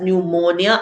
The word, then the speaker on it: pneumonia: All right, so this says P is silent before N in a selection of somewhat technical terms such as pneumonia and pneumatic.